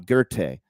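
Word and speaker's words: Goethe: was a guy 125 years later named Johan gerte g e t h e spelled goth but it's pronounced ger and uh he discovered that there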